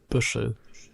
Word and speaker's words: Buchel: Okay, next question from Buchel. I'm sure Alex can correct me on that German pronunciation. Buschel. That's it. Not too far off.